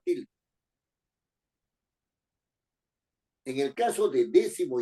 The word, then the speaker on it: décimo: rige por su regla décimo es una palabra esdrújula tiene que llevar acento en d séptimo es una palabra